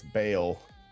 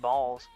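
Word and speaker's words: Baal: I don't think there's an S in that name, is there?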